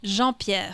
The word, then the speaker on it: Jean-Pierre: Jean-Pierre.